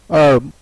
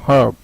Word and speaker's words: herb: The words still have a silent H which are of French origin, like ear, honest, honor, hour, herb, or you can say it herb.